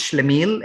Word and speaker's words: schlemiel: is a character type um it is called schlemiel okay it's it's pronounced shlamiel and then the word is written on your